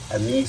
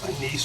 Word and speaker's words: anise: put in our um anise seed and mix it up so anise or Anis however you want to pronounce it either way you know six half a dozen same thing mhm